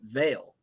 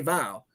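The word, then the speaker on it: Vial: is Val right well if you look at it it's vile v-i-a-l but he pronounces it Veil and even yeah even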